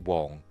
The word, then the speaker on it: Wang: I know he pronounces it Wong, but it's like Han Solo.